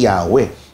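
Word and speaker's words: Yahweh: 'Yung Adonay naman, Panginoon ibig sabihin opo kinuha yung mga patinig o tunog patinig din ng Adon inilagay doun sa YHWH kaya eventually yun yung universally accepted na pronunciation eh Yahwe dahil nga isinal naman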